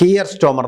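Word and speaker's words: Keir Starmer: ബിൻ സിയദ് അൽ നഹാൻകോമോടെ കിയർ സ്റ്റോമർ എന്നാണ് ശരിയായ ഉച്ചാരണം ആ കിയർ സ്റ്റോമറോട് പറഞ്ഞു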